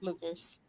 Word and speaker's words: Luckers: Right pronunciation for me. Yes, Luckers.